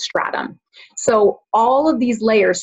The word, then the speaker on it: stratum: So it can be stratum or stratum. I prefer saying it as stratum.